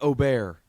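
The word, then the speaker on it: Åberg: Ober. But it's spelled Aberg.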